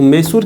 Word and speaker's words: Mysore: तो मैसूर की बात करें, MYSORE मैसूर होता है। ये अलग ही इसका प्रोनाउंसिएशन है, इसका जो प्रोनाउंसिएशन का दुनिया है बिल्कुल अलग है।